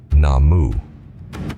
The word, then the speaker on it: Namu: For example, Soka Gakkai International removed the U from Namu Myoho Renge Kyo. Nowhere in their Gongyo can this be found. They simplified the pronunciation from Namu to Nam to make the practice